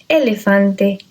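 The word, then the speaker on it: elefante: with the letter e we have in English this pronunciation for the letter e it's let elephant and set okay it's not an e in English Okay it's an a in Spanish would be elephante is okay very simple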